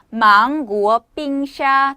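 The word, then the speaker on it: 芒果冰沙: 자, 망고 빙수는요, 그 발음도 굉장히 비슷해요. 자, 발음은 망고 빙샤. 다시 한번 망고 빙샤. 망고는 망고, 망고는 망고. 자, 빙샤 하게 되면은 빙수. 발음이 너무 비슷하다.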